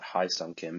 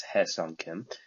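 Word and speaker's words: Hye-seong Kim: about it hesong Kim which I've been hearing a lot high on Kim because I guess that's how it's spelled in English but it's Hesson Kim not to be confused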